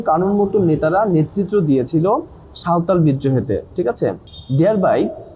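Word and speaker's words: সাঁওতাল: এখানে লেখা আছে বাট এটা হচ্ছে একচুয়ালি বাংলা উচ্চারণ হবে হচ্ছে সাওতাল রেভলেশন মানে হচ্ছে বিদ্রোহ ঠিক আছে তাহলে সিধু এবং কানুর মত নেতারা নেতৃত্ব দিয়েছিল সাওতাল বিদ্রোহেতে ঠিক আছে দেয়ার বাই ফলে হাইলাইটিং উল্লেখ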